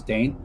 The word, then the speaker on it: Dane: on my name because the way you actually say my name is how Legend says it, which is Dane.